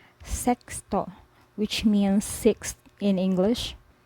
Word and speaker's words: sexto: of a person then another way to pronounce X is like KS as in English paxi box fix when placed inside a word you say so for example sexto sexto which means sixth in